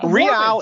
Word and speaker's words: Real: so by the way, so they pronounce it Real Salt Lake. Like Real Madrid, obviously not one of the best teams in the world, but Real, it means royal, so it's Royal Madrid.